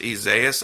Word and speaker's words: Isaias: They're saying it's pronounced Isaias. I always pronounce it Isaias, but that doesn't really matter.